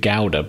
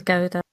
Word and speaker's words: gouda: it's yeah very good i'm not 100 sure it's actually pronounced gouda because my mom calls it gowda but i don't i've heard it as gilda yeah it wouldn't be